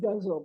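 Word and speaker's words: ghazal: is a good guitar which they tell me is pronounced guzzle but I don't like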